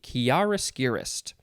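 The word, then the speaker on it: chiaroscurist: yeah you get the idea chiariscurist what yeah it's spelled c-h-i-a-r o s c u r i s t chiaroscuroist noun from circa 1798 it is an artist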